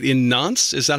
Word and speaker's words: Nantes: Right, in Nantes? Is that how you pronounce it? Nantes, yeah? Yes, Nantes, yes.